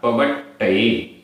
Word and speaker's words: पवट्टये: पवट्टये, पवट्टये, आधा टा पूरा टा, पवट्टये।